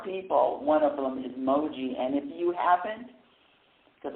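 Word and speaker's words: Mooji: One of them is Moji.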